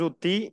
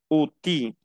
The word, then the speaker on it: outils: Ok, estaba pronunciando la L. Les outils.